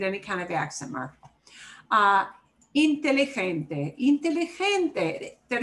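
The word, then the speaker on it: inteligente: kind of axamer ah intelligente is what should get the punch here is the second to last syllable yep the way i say it obeys the rule second to last syllable gets the punch you know basically i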